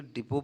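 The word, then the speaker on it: depot: डिपो को ध्यान रखिए कि डिपो पढ़ा जाता है, स्पेलिंग क्या होती है।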